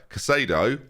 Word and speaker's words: Casado: we play him over casado which is how you actually say that person's name and i've been saying it wrong for about three weeks or pellegrini i think